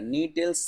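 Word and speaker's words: Gnetales: Orders में बांटा है, नीटेल्स, साइकेडेल्स और कोनिफेरल्स। बस इतना ही बांटा है, ये 3 ऑर्डर में बांटा है। देखिए नीटेल्स ऑर्डर, जो नी क्या है, जी क्या है, इसमें साइलेंट है, नीटेल्स ऑर्डर।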